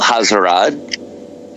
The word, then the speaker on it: Alhazred: So, as a person who mispronounces everything, I've always done it as Alhazred. I mean, like, technically it should be just Abdul Alhazred.